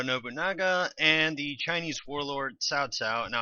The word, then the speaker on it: Cao: and the Chinese warlord SAA now I know it's spelled CAO but it's actually pronounced Tsao at least according to